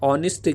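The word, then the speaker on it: honest: भी आगे साइलेंट है ऑनेस्टी के अंदर जो ह है वो साइलेंट है और ह के बाद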